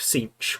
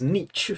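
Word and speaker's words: Tzeentch: And on today's episode, it's the Thousand Sons, the followers of Sinch, which I pronounced as Nietzsche for as long as I can remember until they came out with the official pronunciation video.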